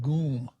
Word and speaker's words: GUM: Union called gee um I pronounce it gum they pronounced it goon and go into the